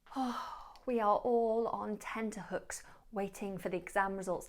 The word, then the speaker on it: tenterhooks: Now don't make the mistake of saying tender hooks. Those hooks are not tender, it's tenterhooks.